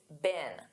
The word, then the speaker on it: been: And notice that pronunciation in American English, it's been. Be been.